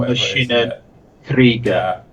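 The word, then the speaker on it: Maschinen Krieger: You pronounced it beautifully. Machinen. Yeah, Krieger. As you call Machinen Krieger. Yeah, that's the one. Machinen Krieger, that's it, we'll call it. That's it, Machina Krieger.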